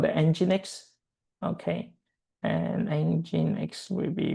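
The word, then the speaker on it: nginx: But in this moment you just need to know so it pronounce engine X right here.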